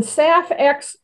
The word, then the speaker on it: SAF: is sustainable aviation fuel abbreviated as saf and pronounced saf hence the project named safx renewable fuels have